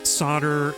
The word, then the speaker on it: solder: one of yeah exactly it's one of those English words not pronounced how spell although I